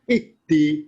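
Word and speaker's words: اهدِ: Nah, dalam kaidah bahasa di Al-Quran, ketika membaca alif di awal kata, tergantung huruf ketiga bunyi apa. Alif, ha, sama dal. Kalau ketiga kasroh, alifnya ikutan kasroh. Ihdi. Nah, itu bacanya. Dah.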